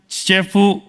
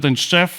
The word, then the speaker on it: Tczew: Some people might pronounce it “ćciefu,” but why “Tczew”?